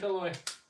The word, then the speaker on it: Eloy: Am I pronouncing your name right, Eloy? I've only said it a million times. So I hope so. Yes, that was good.